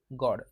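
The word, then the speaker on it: gourd: त्याला आयव् गॉड म्हणतो जी ओ यू आरडी प्रन्सिशन कस करायच गॉड जी ओडी सारख पुढचा जो आहे तो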